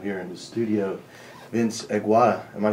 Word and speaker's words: Agwada: Mitchell Bell, and we have here in the studio Vince Agwada. Am I saying it pronouncing your name correctly?